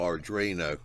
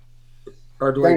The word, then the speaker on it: Arduino: Oh, Arduino. Arduino.